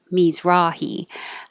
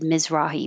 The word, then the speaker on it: Mizrahi: mizrahi isaac mies rawhi i looked this up to find out that it's me's misrahe but i've always just been more lazy and said mizrahi miz so i'm sure you'll hear it both ways um isaac mizrahi